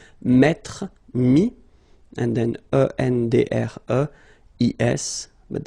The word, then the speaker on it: mis: And then mettre, to put, so e-t-t-r-e, will give you this is, mi. Same thing here, final s is not pronounced. Mi, okay.